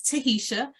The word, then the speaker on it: Tahisha: It's been a family nickname, but my name is pronounced exactly how it's spelled.